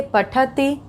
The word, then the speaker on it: पठतः: तो अब यहाँ पे उच्चारण पे ध्यान देंगे, पठति, लिखति, धावति। और इसी तरह से यहाँ पे तह, द्विवचन में तह का उच्चारण आ रहा है, पठतः, लिखतः, धावतः।